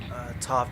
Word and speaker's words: Toph: Toph definitely rhymes with tough.